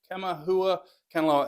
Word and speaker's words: Kamaʻehuakanaloa: I have to get the pronunciation right. Kamaʻehuakanaloa, and I have been practicing that all week to myself, so I'm sorry.